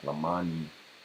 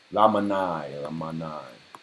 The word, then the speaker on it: Lamanai: I think it's called like Lamani, something like that. No, I'm not pronouncing that right. Let's see. Lamanai. Yep. Lamanai. Right.